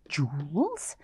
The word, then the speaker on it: joules: look at the word it's got a strange spelling it's pronounced jewels but it has this